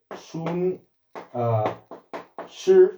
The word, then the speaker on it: Sun Tzu: Sun Tzu es Sun Tzu, yo hablaba chino antes, se pronuncia Sun Tzu, si no lo tengo muy oxidado, y escribió